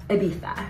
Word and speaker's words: Ibiza: and now we're doing Ibiza Ibiza which is how they say it here um I have